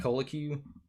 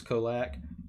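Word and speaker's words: Colaque: put out a post saying that's how you pronounce his name i i was calling it cola q collacu or something um and then they they came out and said it was kolak um and i was just like well that's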